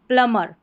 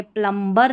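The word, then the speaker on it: plumber: प्लमर, ये प्लम्बर नहीं है, प्लमर, यहाँ पर ये हिंदी में लिखा गया है प्लम्बर, ठीक है, यहाँ इसको प्लमर करके ही पढ़ना है इंग्लिश में।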